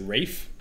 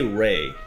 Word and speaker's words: Ralph: It's spelled like Ralph. Yeah. Maybe they do say Rafe.